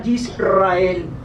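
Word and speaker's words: ישראל: Y precisamente las naciones, aparte de Israel o Israel, voy a utilizar algunos términos hebreos, porque en hebreo Israel se pronuncia Yisrael.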